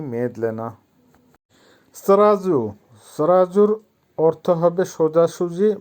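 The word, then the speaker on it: сразу: সরাজু, সরাজুর অর্থ হবে সোজাসুজি বা এখনই। উচ্চারণ হবে সরাজু। আবারও বলছি সরাজু।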